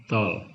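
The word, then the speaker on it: tall: Tulisannya tal, bacanya tol.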